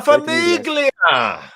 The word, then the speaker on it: Famiglia: La Famiglia, a voice, a very wise commenter whose face we don't see enough of. What say you, Famiglia? The GL is pronounced like a LY. It's Italian, so.